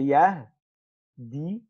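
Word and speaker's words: يهدي: Pronouncing a ya with a dhamma after it has a kasra is hard. So what the Arabs do, they just say yahdi.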